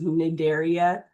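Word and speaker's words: Cnidaria: You don't pronounce the C by the way. So this is nidaria and these are nidtoytes.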